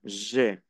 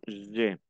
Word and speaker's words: j'ai: Alors, répétez, j'ai. Acuérdense que la A y la I se pronuncia E. Yo digo j'ai, j'ai.